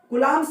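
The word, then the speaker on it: Coulomb: आगे पढ़ना है हमको कूलम्ब्स लॉ। कुलाम तो कुलाम कुलाम इसको पढ़ते हैं हम लोग कुलाम लो। ये जो बी है वो साइलेंट रहता है।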